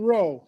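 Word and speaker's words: Rohe: And the week after that, from New York, is Jean Rowe. It's spelled R-O-H-E.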